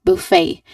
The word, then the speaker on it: buffet: Now again everyone um remember that this word is um pronounced as buffet.